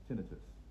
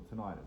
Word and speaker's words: tinnitus: page is Liam stops tinitus or tonitis, however you want to pronounce it. Doesn't matter. Tonitis tinitus. It's a dialect thing. It's interchangeable.